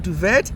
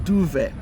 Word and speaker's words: duvet: That T is silent. Why? I don't know, but it's silent. So it's not duvet, it's duvet.